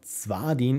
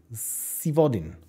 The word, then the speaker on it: Zodin: Crossing frog F oh it's not zadin it's Z vodin zodin okay I will try